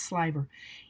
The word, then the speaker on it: sliver: do with the sliver and sliver is sort of spelled like sliver but it's sliver is we would twist